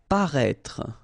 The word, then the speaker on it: paraître: Paraître, okay, same thing, final E is not really pronounced, so paraître.